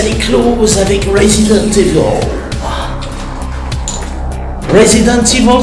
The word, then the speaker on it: Resident Evil: Resident Evil, c'est bien prononcé à l'anglaise comme Crabath Distillery.